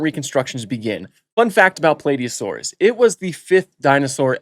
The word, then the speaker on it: Plateosaurus: Welcome to the many interpretations of Plateosaurus, or Plateosaurus. I personally pronounce it Plateosaurus, but Plateosaurus works just as fine.